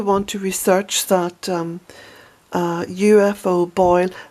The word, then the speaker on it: Boyle: to research that UFO boil boil is spelt Bo yl e and boil is my